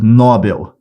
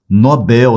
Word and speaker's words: Nobel: prêmio Nobel da Paz a maioria a maioria fala prêmio Nobel Essa palavra não é paroxítona Nobel essa palavra é oxítona ele ganhou o prêmio Nobel da paz tá vendo e essas